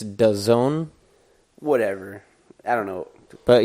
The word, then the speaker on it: DAZN: If you pronounce it differently, the way I like to pronounce it is DAZN. That's how I think it's supposed to be pronounced, but I've heard So I'm just DAZN.